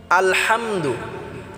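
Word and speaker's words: الحمد: আলহামদুলিল্লাহি রাব্বিল আলহামদু আল হামদু অনেকে আছি আমরা আলহামদু বলি আল এটা আমরা আলা অনেকে বলি হাম এটাও আমরা হাম হবে না আলা হাম হবে না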